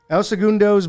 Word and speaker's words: El Segundo: i tell you what el sagiro segundo segundo and that's probably not how you pronounce it no it is el segundo's brewing company and this beer